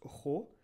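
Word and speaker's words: rho: c'est une forme de paix et ça se prononce ro les premières lettres de son nom christophe bien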